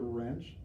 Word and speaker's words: wrench: you say the word wrench wrench you don't hear that W you hear an our sound at the beginning so W is a silent consonant at the beginning of the word wrench our next word boys